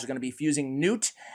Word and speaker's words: Gnut: trying to get one Champion's pronunciation right and it's Newt I just want to